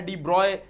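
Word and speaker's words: de Broglie: Pronounce करने में तुम जब टेस्ट बुक पढ़ोगे तो वहां पे लिखा है डी ब्रॉय उनको प्रोनाउंस किया जाता है। बट डी ब्रोगली भी बोला तो कोई प्रॉब्लम नहीं है। सर डी ब्रोगली बोल सकते हो तुम।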